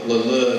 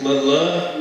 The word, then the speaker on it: Leleux: It's Leleux dance hall, Cajun dance hall. Audience Member: Where was it at? John Sharp: It's Leleux, Louisiana, it's an unincorporated community near Crowley Audience Member: How do you spell it?